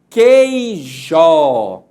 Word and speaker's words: queijo: Observe que quando eu falo a palavra que, a sílaba quei, eu não pronuncio o sonzinho do U.